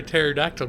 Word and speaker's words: pterodactyl: Hey, gaming lawyer, why can't you hear a pterodactyl going to the bathroom? Why, Oni? I don't know. How come? Because the P is silent.